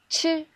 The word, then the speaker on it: 吃: 吃吃吃 When you pronounce 吃, you can also feel the air comes from your mouth.